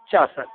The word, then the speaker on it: Chaucer: I felt that that's the right pronunciation for this person, Chaucer.